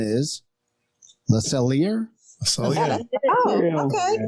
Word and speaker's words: Le Cellier: I'm not sure I even know how to pronounce this, so grant me some grace. Number 7 is Le Cellier. Oh, okay. Le Cellier.